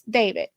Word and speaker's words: D4VD: The black Tesla is registered to 20-year-old musician David Anthony Burke, whose stage name is David, pronounced like his first name.